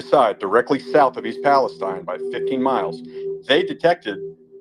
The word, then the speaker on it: Palestine: Palestine I'm sorry it's Palestine it's pronounced Steen not Stein stuff came from East Palestine 15 miles down through